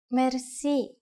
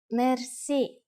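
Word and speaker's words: мерси: which word that is Mery Mery Mery is a long word word from French but it is pronounced with the typical Bulgarian hard r r it is used mainly in informal situations Mery how do you answer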